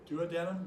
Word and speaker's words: duodenum: So it's the duodenum? Duodenum. You can pronounce it either way.